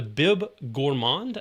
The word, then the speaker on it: Bib Gourmand: And they have a category called the Bib Gourmand, I believe is how it's pronounced.